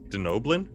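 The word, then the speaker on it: Denobulan: All right, an 8 is gonna give us I can never pronounce this. A denobulin. A Denoblin?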